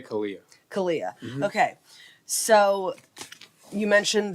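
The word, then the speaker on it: CALEA: you say c-a-l-e-a or do you say Calia how do you pronounce it that's who you're accredited through correct yeah I say Kalia Kalia okay so you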